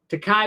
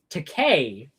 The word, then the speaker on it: Takei: Takai went on to say, I keep saying it wrong. Takei went on to say, the new migrant detention